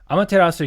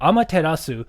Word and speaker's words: Amaterasu: Amaterasu here is written in katakana, if you guys know what katakana is.